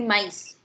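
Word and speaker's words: maïs: There is a word M-A-I with trema S, so pronunciation will be mice.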